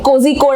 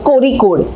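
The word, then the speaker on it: Kozhikode: कोजिकोड आपने सुना होगा, स्पेलिंग में कोजिकोड जैसा लिखता है बट उसको प्रोनाउंस किया जाता है कोरिकोड।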